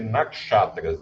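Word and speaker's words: nakshatra: fica melhor ã naxatras esse S ele tem um pontinho embaixo acho que tem que ser naxatras a a pronúncia Então essas naxatras são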